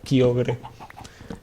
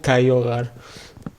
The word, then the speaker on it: Kyogre: Hay individuos que pronuncian el nombre de dicha criatura como Kyogre y otros que lo pronuncian como Kaiogar.